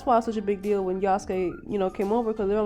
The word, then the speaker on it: Yasuke: let me know that the Japanese actually pronounce it Yasuke, which is correct, because if anybody's watched Naruto, you don't say Sasuke, you say Sasuke. And it didn't occur to me because everybody says Yasuke.